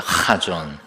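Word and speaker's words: חזון: 거기는 이 목소리에서부터 나오는 가래침 뱉는 소리가 나오는 것이라 카존입니다. 카존.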